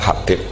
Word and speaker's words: Habib: Itu di harokatnya kitab itu ada yang nulis Hubab. Yang benar, oh enggak, yang benar itu bacanya Habib. Habib itu As-Sulami itu ikut marga Robi'ah.